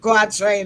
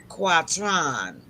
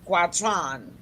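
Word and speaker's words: quatrain: French okay that's s quatron pronouncing in the French style all right then so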